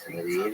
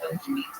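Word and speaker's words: Medellín: How do you pronounce Medellin and Medellin? both are fine.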